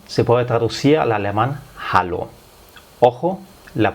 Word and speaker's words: hallo: puede traducir al alemán hallo. Ojo, la pronunciación, la H en el alemán se pronuncia. No como en el español la H no se pronuncia.